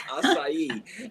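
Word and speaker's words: açaí: acai that's another one most people don't even pronounce it right but it's acai and that one again i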